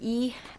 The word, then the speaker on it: Ye: but i have is that ye my name is e i'm one president of